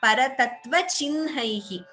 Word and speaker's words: परतत्त्वचिह्नैः: We chant it as paratattva chinhaihi. Shri Venkatesha Charanau Sharanam Prapadye. Though it is written as ha and na, and even in English it is written as CIHN, but the pronunciation is Paratattva Chinhaihi.